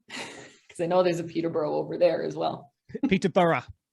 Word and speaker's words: Peterborough: in Peterborough, Ontario, because I know there's a Peterborough over there as well. Peterborough. That's how it's pronounced here.